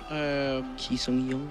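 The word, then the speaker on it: Ki Sung-yueng: Is it Key? Is it how you pronounce his name, the man from Swansea? It is, yeah. Ki Sung-young.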